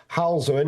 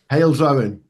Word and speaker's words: Halesowen: And then Berkswell, Halzowen. Is that how you pronounce Halesowen? Halesowen. Halesowen. We'll go Halesowen.